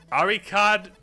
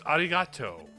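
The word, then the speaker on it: ありがとう: Ariad. No, it's Ariato.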